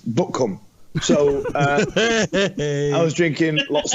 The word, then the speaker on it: Butcombe: That's how they spell it, but it's pronounced Buckham.